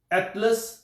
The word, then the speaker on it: Attalus: इस शहर की बुनियाद जो है वो हिस्ट्री के मुताबिक शाह एटलस मुख्तलिफ तरह की प्रोनाउंसिएशन है, लेकिन ATTALUS जो है ये इसका नाम है, इस तरह से स्पेल करते हैं।